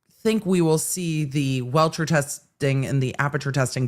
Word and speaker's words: Rentschler: Look, everybody with the W last names, even though wrench is spelled with an R, it still sounds like it's a W.